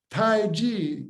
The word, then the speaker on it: taiji: word play let's play tai chi tran well tai ji notice how it's spelled t-a-i-j-i that does not refer to energy